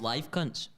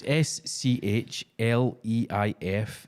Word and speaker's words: Schleifkunst: Schleifkunz. Is he German? It's I live, don't know. It's live cunts. So it's SCHLEIFKUNST.